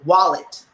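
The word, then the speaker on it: Ualete: for w-a-l-l-e-t no yes wallet it's u-a-l-e-t-e but we we pronounce this as wallet okay so okay anything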